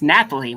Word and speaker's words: Nathalie: It's Nathalie, which I love that name, Nathalie.